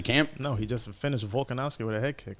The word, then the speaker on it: Volkanovski: His name's not Vulcan Musty, bro. What's his fucking name? What do you think? How do you say his name? I don't know how to say it. Volkanovski. Volkanovski. Oh, I thought that's what he.